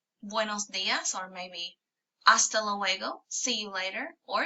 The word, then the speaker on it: hasta: Hasta, you notice the H is silent because in Spanish, H's aren't pronounced.